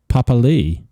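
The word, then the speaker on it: Papaliʻi: Jason Taumalolo and Josh Papali, who, listening to the commentary before, is apparently, his name is pronounced Papali.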